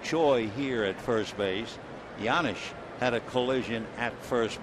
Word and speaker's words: Janish: The Janisch is a Czechoslovakian name, but Paul says he has no idea why the J is pronounced like a Y. The 1-0 pitch on the way. Janisch hits a one-hopper into center.